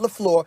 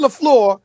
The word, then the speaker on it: LaFleur: Did I pronounce his name correctly, Molly? I just want to make sure I said Matt LaFleur.